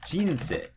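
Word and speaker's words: 人生: And so we can say, for example, maybe it drops right after the first syllable, like jinsei.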